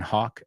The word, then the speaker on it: Hawke: Ethan Hawke. Okay, all right. Well, he's not related to Tony Hawk, porque Ethan Hawke, aunque lleva una E, se pronuncia igual que Tony Hawk.